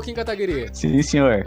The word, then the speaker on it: Kataguiri: É Kataguiri que pronuncia? Kataguiri.